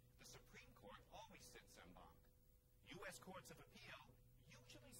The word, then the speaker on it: en banc: Our extra word today is no, not Latin, but French, en banc. Or you'll also hear it said in bank.